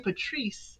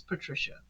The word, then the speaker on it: Patricia: He keeps saying Patrice, and it's Patricia. But she's okay with that.